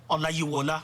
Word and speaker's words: Olayiwola: Olayiwola.